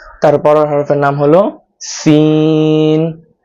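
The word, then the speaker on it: سين: তারপরের হরফের নাম হলো সিন। সিনটা উচ্চারণ করতে হবে জিহ্বার আগাটা নিচের যে দাঁত আছে এই দাঁতের আগার সাথে লাগিয়ে মুখ থেকে বাতাস বের করে তারপর সিন উচ্চারণ করতে হবে scene scene scene scene scene.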